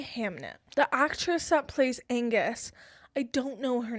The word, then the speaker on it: Agnes: Also, I believe I'd been saying Agnes this entire time. It's Angus. I just didn't read that correctly. The N is before the G.